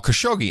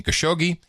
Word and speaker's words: Khashoggi: little help on pronouncing khashoggi he says he has actually he says the Italians do have a lot more fun with the Khashoggi name as they really highlight the cash part of it the Italians back in